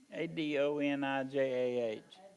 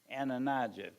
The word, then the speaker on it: Adonijah: And of his 2 sons, the best known to the Bible readers are Absalom and, how do we pronounce that other word there? Adonijah. Adonijah.